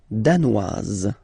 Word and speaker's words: danoise: Le Danemark, danois, danoise. Z, okay, insist on that. Danois, don't pronounce the final S. Danoise, here you pronounce it.